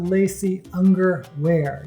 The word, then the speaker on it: Lacey Ungerwear: The story is about Lacey Ungerwear. Yes, rhymes with lacy underwear.